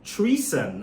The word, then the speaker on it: Treson: treson let's starts with the name treeson I mean it obviously sounds like the word treason betrayal but there's another production